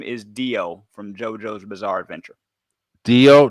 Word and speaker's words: Dio: Sound like deodorant. Yeah. The short version.